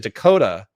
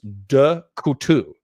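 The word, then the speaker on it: Decouteau: They they they pronounced it Dakota. Uh but his real name was Dutu.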